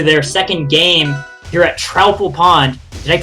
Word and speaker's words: Troupple Pond: We're going to go on to their second game here at Troupple Pond. Did I pronounce that right this time?